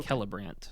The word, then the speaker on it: Celebrant: The celebrant. No, my favorite. So, it's a K sound. It's a hard We talked about this C is a K.